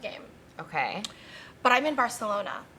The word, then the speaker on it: Barcelona: But I'm in Barcelona, or as some people say, Barcelona. They do? Yeah, because I think that they pronounce that sound a th in that area.